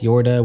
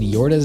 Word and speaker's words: Yorda: funny that they spelled yorta's name as jorda like i guess they thought people would pronounce it like a scandinavian j and assume it's said